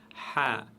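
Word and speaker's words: خ: La lettre ha, cette fois-ci qui se prononce toujours lourde, toujours, aucune exception.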